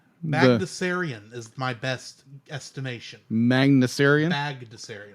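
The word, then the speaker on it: Bagdasarian: info instead so real question how do you pronounce the uh the guy who created magnussarian is my best estimation magnussarium baghdasarian thank you all right so i mean the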